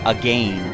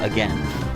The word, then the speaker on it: again: know in the comments who out there actually says a game instead of again cuz if you do then I'll take back what I say but I've never heard anyone use the word and pronounce it as a game therefore it should not rhyme brain pain or Spain or Maine or explain I guess alright we are